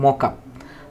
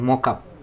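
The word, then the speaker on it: markup: Hyper text মার্কআপ language, তো এই মার্কআপ যে যেভাবেই প্রোনাউন্স করো না কেন এটার প্রোনাউন্স হবে মকআপ। আমি প্রোনাউন্সটা যদি এখানে লিখি যে এরকমভাবে লেখা যায়, মানে এটা হবে মূলত উচ্চারণ মকআপ, আর বানান যখন লিখতে যাবে স্পেলিং তখন হবে মার্কআপ।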